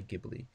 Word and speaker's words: Ghibli: and it's not by Ghibli or Ghibli I think it's how it's supposed to be pronounced but I know it's an Italian word so I'm automatically doing a hard G with an H so because in Italian